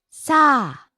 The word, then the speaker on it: さあ: 何分 Next, さあ well. さあさあ Falls on the second syllable a.